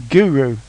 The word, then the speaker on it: GERU: a little tour of guu which Jonathan ree pronounces Guru but it's spelled guu anyway um so guu